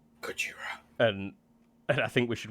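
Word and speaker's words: ゴジラ: It's pronounced Gojira. Gojira.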